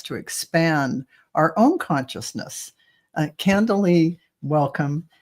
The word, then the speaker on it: Candilee: About the incredible world of astral travel and spiritual exploration with author Candilee. Is it No, that? Candilee, you were right the first Candilee. time. I was always pronouncing it right.